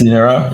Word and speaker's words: Linera: Am I pronouncing that correctly? Linera? That's the yes, Linera. Yeah.